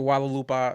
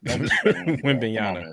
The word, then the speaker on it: Wembanyama: Victor Walalupa, he scares me. They just don't disrespect Wembanyama.